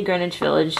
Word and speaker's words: Greenwich Village: have green witch Village I know how to say Greenwich Village so don't tell me I'm saying it wrong but this is spelled green